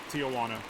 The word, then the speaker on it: Tijuana: Tijuana. I pronounce the J.